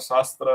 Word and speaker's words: SASTRA: He received many awards, including the Sastra Ramanujan Award or Shastra Ramanujan Award, that is how it is pronounced, in 2005.